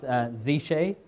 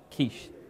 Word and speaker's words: Xische: It's Xische, not Quiche.